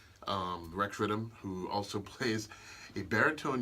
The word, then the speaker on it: Riddem: Okay, it's Riddem of that wickedness. Riddem of that wickedness. That's why it's spelled that way, right?